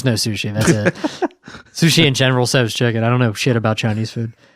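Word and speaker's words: General Tso: I'd get like sweet and sour shrimp or General So's chicken. And that was like pretty much it. Yeah. Thank you for pronouncing it general so cuz it makes me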